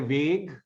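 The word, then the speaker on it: Weg: you remember that yeah the two words uh they're vague pronounced with the long a they're vague the same spelling but a capital w their vague is the way is the path the way and the adverb veg pronounced with a very short vowel veg is a way um that is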